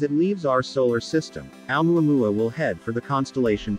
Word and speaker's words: ʻOumuamua: The Pan-STARRS team dubbed it Oumuamua, pronounced Oumuamua, which is Hawaiian for a messenger from afar arriving first.